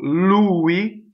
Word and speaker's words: lui: Louie so you're gonna have two L's so Louie the accent is on the right so there's